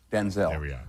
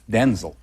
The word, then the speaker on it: Denzel: So proud I had some audio to Well, my name's not pronounced Denzel.